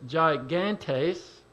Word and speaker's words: gigantes: looked up this word g-i-g-a-n-t-e-s and i thought at first well it sounds like it's greek and it would be probably pronounced gigantes where we get the word gigantic and i was i